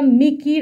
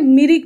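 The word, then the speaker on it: Mikir: নাগপুর মালভূমি, দ্য মেঘালয়া মিকির আপল্যান্ডস। বন্ধুরা এই উচ্চারণটা একটু ভালোভাবে খেয়াল করবে, অনেকে এটাকে মিরিক বলে ভুল করে দেয়, কিন্তু এটা কিন্তু মিরিক নয়।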